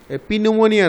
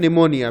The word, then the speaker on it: pneumonia: Bacteria responsible for a number of diseases, some of which are typhoid, leprosy, TB, নিউমোনিয়া, পিনিউমোনিয়া নয়, নিউমোনিয়া, Peter silent, cholera etc, এগুলো সব bacteria থেকে হয়.